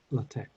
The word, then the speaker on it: LaTeX: typesetting software called latech I smell like latex I think it's pronounced latech if you already know